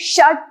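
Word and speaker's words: षट्: Number 6 shut. The pronunciation is same like you say shut your mouth, shut the door, shut the window. Similarly, shut. Do not stress more on this t.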